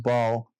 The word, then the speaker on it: Baal: It's that's how the initial uh it's actually pronounced bal and um bell in Ishtar bec became bal